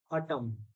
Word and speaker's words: autumn: N is silent in these all. Autumn.